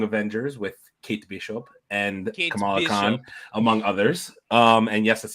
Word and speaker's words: Kamala Khan: First of all, her name is Kamala Khan, so you can take a Whatever. drink for getting that Kamala name wrong.